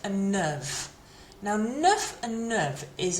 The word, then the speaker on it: neuve: Neuf, so different pronunciation, neuf, neuve. And masculine plural, neuf, and feminine plural, neuve. So we don't really hear those S's on the end.